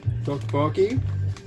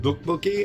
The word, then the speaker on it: Topokki: This is Topokki. So it's a soft T or a hard D is how you pronounce the TT or the DD. There's Topokki and Topokki.